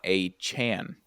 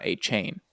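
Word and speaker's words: De'Von Achane: Devon A. Chan, not A. Chain. H-N. Oh, really? H-N. Yeah, he came out and he's like, I don't like to tell people that it's wrong, but it's A. Chan, not Oh, A.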